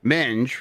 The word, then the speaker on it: minge: In Commonwealth English, men rhymes with sing is a vulgar term for the female genitals or pubic hair.